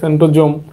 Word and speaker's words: সেন্ট্রোজোম: এটা অনেক সময় সেন্ট্রোসোমও বলে, সেন্ট্রোজোম এসের উচ্চারণ জ্বর মতো হয়, স্বর মতো হয়।